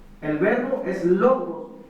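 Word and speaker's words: λόγος: era el verbo y este término en griego es una palabra que se pronuncia logos el verbo es logos y Esta es una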